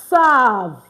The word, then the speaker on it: savent: And then the last one we have is il, elle, savent. Don't forget, we don't pronounce the E-N-T.